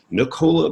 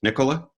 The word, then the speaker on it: Nicola: tell I'm British so we're with a different different kind of stress on the vowel but yeah Nicola or Nicola is fine Nicola okay